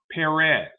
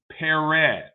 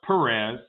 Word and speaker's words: Perez: George's last name is pronounced Perez. Perez. Not George Perez.